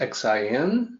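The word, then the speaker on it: 信: Even though it's written Xin, it's pronounced like Xin.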